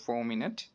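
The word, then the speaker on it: fulminate: ইউ এল এম আই এন এ টি ই উচ্চারণ হবে ফোর মিনিট এটা সম্পর্কে যদি ডিটেইলস দেখতে চাই যে উচ্চ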